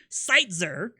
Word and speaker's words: Seitzer: I said it right, Seitzer.